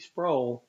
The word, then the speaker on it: Sproul: sprole i'm informed that his name is pronounced just like the word soul and that is the late rc sprole and remember he became